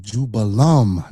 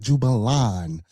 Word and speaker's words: Jubelum: So these three ruffians, you got the name wrong. It's Jubella, Jubello, and Jubelum. Not Jubelon.